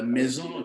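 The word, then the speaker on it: meson: Mais quand il parlait de ça, maison, ça s'écrit M-E-S-O-N. Mais nous, on écrivait ça comme maison, comme la maison.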